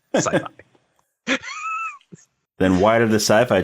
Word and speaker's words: sci-fi: Rudy yes that's sci-fi is not very definitely pronounced sci-fi yeah not scii not siy that's or skyfi yeah it's sci-fi then why did the